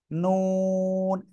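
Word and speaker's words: نون: আমার দিকে তাকান নুন জিহ্বার আগা তার বরাবর উপরে তালু এর সাথে ওই যে শক্ত জায়গা আছে না এই দাঁতের গোলার একটুখানি উপরে এই জায়গায় লাগাবেন জিহ্বার আগা লাগিয়ে দুই ঠোঁট একটু গোল হবে এরপরে আমরা উচ্চারণ করব বেশি গোল না কিন্তু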